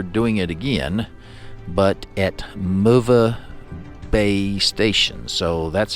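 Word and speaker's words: Möwe Bay: it again, but at MOVA Bay Station. So that's how I was told that's pronounced. M O W is the W is a V. So MOVA Bay Station.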